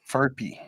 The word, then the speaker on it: Furphy: We got Johnny Furphy. I think it's how you pronounce it. That is such a bad fuck because I'm like Murphy, but it's an F. Yep. Furphy.